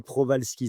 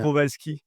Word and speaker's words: Prowalski: Je prononce bien Eric? Oui, Prowalski, c'est très bien. Prowalski.